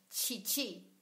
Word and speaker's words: chichi: Sobre todo en Colombia, escribimos la palabra chichi con CH. Por eso el sonido es tan fuerte, chichi. En portugués se escribe con X. Y también por causa de eso el sonido es un poquito más leve, shishi.